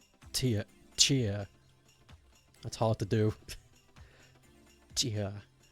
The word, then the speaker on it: Tchia: You pronounce it like Chia. Seeds with a T in the front. Chia.